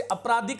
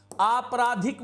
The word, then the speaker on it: आपराधिक: व्यावसायिक इसी प्रकार से अपराधिक नहीं कहिए आपराधिक बोलिएगा आपराधिक बोलिएगा आपराधिक प्रमाणिक नहीं